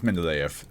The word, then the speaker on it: Mendeleev: But how do you pronounce it? Mendeleev. Mendeleev. And if you use a British one? Mendeleev. It's Mendeleev.